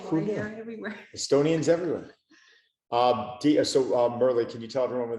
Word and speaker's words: Merle: So when I pronounce, it's like Aqua Merle.